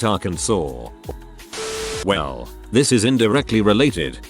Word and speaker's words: Arkansas: This has nothing to do with your post, but it's weird I read it as Arkansas when it should be pronounced Arkansas.